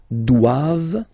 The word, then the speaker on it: doivent: And then the last one, ils doivent, so same thing, classic ending for the plural form, ENT here, okay, but then you don't pronounce it.